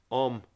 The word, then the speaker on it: Ogham: The name Ogham is pronounced Om in modern Irish, and it was spelt Ogham and pronounced in Old Irish.